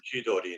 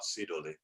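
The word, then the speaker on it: 千鳥: Yeah, they don't pronounce it jihogiri. Yeah, no, it's not true. It's not true. Yeah, I'm always chidori, not sidori.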